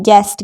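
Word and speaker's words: guest: मतलब होता है मत्था गेस्ट गेस्ट नहीं पढ़ते हैं गेस्ट गेस्ट यानी अतिथि अब है डब्लू अगर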